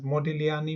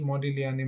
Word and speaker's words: Modigliani: Now I have just got to know that G should not be pronounced because this is an Italian name. So the best way to say is to put both as modilani modilani major.